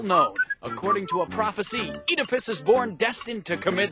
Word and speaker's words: Oedipus: this guy's name pronounced Oedipus but we pronounce it Oedipus why because we like it that way yeah actually is because this pronunciation is more true to the Greek original Oedipus Rex a tragedy